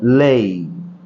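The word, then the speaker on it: lay: এল এ ওয়াই আমরা সাধারণত লে বলে থাকি, এর সঠিক উচ্চারণ হচ্ছে লেই।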